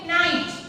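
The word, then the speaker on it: knight: अब देखो क्या है इसमें, एक नंबर में है नाइट. यहाँ पे के है लेकिन के इज साइलेंट, सो यहाँ पे भी हम क्या लिखेंगे?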